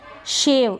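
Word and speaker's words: shave: Next है शेव, इसको हम शेव पढ़ेंगे। यहाँ पर भी ई है लास्ट में, इसका उच्चारण नहीं होगा, शेव।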